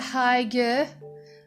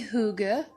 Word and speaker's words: hygge: art of uh i used to call it high g but it's actually hygge in danish so apologies to my danish listeners